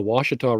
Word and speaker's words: Ouachita: French and the second ones knew how to pronounce it so right you you have you have the Ouachita River up in Northwest Arkansas which you know